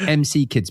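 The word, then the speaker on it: McKids: That's pronounced MC kids by the way in case you didn't know what MC is.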